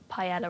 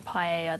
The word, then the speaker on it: paella: get wound up when people say pella rather than paella, though. That one annoys me. Why does it? Because a double L in Spanish is a Y. And that one is so terribly mispronounced.